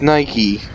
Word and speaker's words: Nike: goddamn Jesus Christ in a Christmas tree its Nike it's pronounced Nike dude Jesus Christ have you ever